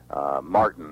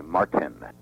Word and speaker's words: Martin: Americans are inconsistent in pronouncing T, especially in the middle of words. Yeah. Whereas the Brits are more Okay. articulate about it. They will pronounce the name Martin. We swallow the T a little bit. They will say Martin.